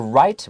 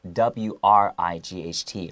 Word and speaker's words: Wright: the actual word is w-r-i-g-h-t right right so the w is silent right the singing and